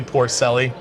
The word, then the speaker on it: Porcelli: yeah we can go with pelli how you pronounce it it depends on how much wine I've had but but usually Porcelli uh again yeah more wine it gets a